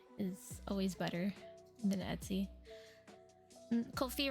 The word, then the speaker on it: Ko-fi: Ko-fi rhymes with no fee.